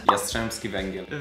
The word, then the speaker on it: Jastrzębski Węgiel: Today we're gonna be watching the 4th match from the final series of the Polish Plus Liga between Zaksa, our team, and Jastrzebski Wegiel.